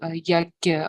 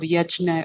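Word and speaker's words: यज्ञ: If you are aware of the concept of yagya or yajna or yadnya, some people pronounce it.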